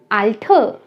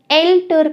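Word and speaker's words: alt: नाम, नाम, आल्ठ, आल्ठ, या वेरी इंपॉर्टेंट, एल्टर कोई नहीं कहेगा, ए की साउंड नहीं देता है। जर्मन में ए साउंड देता है अ की।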